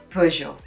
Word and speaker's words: Peugeot: a soft je sound and then the t is a silent one you know so it makes a zhou sound at the end almost like the name joe but softer joe okay so peugeot all right next sector